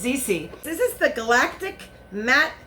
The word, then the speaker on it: ZC: This is from ZC Cosmetics, and I said it wrong in my other video. I'm just so used to saying Ziza, but it's not. It's ZC.